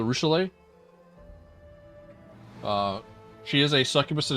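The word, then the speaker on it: Arueshalae: I love Arushula. Even if I can never say her name right because it's Arushule.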